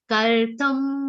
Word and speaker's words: kartum: Kartum madhyogamashritah. Kartum will be a short O sound.